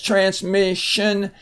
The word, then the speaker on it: transmission: it's long transmission m-i-s-s transmission and again we have the sh sound there with the Sion transmission the transmitter on